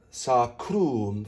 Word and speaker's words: sacrum: Next, we want to round the lips on the O. Sacrum, flip the R, and then pucker on